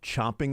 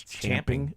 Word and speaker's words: champing: chomping at the bit; it's champing at the bit.